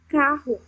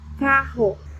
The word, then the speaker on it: carro: But when you have double R, dois R's, double R, you say h, h, as in carro, carro, which means car, carro.